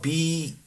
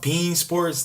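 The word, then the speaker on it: beIN Sports: It's spelled Being. It's pronounced Bean Sports.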